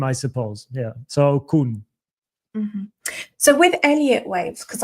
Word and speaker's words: Koenz: Officially, it's Koenz. So Okay. it's so basically it's you can pronounce it as the second part of cocoon.